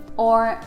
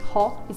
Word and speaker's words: ho: or we don't say ho it's spelled h o but it's o without the h so we never pronounce